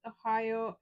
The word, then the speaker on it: Ohio: Don't they read their license plate where it says OHIO? That's four-letter word is three words. O, hi, O. Yeah. No, 2 words. It is 3 words. 3 syllables.